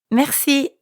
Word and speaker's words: merci: Merci. That's right. Merci means thank you. Merci. Merci. Merci has a French R in the middle, so we have to use our throat a bit.